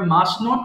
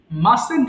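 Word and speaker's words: mustn't: আরো বেশি ভালো লাগবে দেখো এর উচ্চারণটা কি মাসেন্ট হবে অফসেন্ট সঠিক উচ্চারণ করেছ এটা অনেকে ভুল করে মাস্টেন্ট বলে ফেলে মাস্ট্যান্ট হবে না এখানে টি এর উচ্চারণ করার কোন প্রয়োজন নেই তাহলে কি বলবো আই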